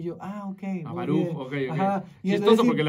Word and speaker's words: Baruch: ¿Puedes decir cómo se pronuncia tu nombre? Baruch. Y yo, ok. Baruch, ok.